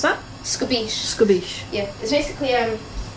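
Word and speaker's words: escabeche: And how do you pronounce that? Scabiche.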